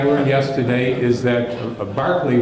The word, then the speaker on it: Berkeley: yesterday is that a Berkeley which is apparently the right anglo-irish pronunciation of his name is the the person